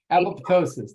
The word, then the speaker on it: apoptosis: cancer but acting as uh and I always mispronounce this uh apoptosis apoptosis that's it yeah that it causes cancer cells